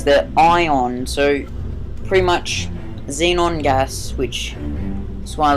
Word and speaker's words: xenon: this and the xenos xenon gas tank i'm pretty sure that's how it's um how it's pronounced like zen in halfway um but it